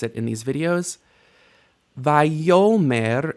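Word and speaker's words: ויאמר: Vayomer, there is initial stress on the stem here, but you don't know enough to know why yet. Vayomer Adonai El Yehoshua bin Nun Misharet Moshe Lemor.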